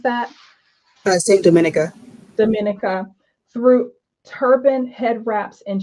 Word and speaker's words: Dominica: How do you pronounce that? Saint Dominica. Dominica through turban head wraps, and shares the history in forms of art exhibitions, lecture series, and interactive educational workshops.